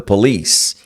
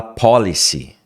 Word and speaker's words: police: Police. Police. Cuidado para não falar policy. Muita gente fala police. Police. Police não. Police é outra coisa.